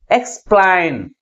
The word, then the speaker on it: explain: Second syllable is pronounced with a greater force comparing with first syllable. That's why the primary stress is on the second syllable. Okay? Explain.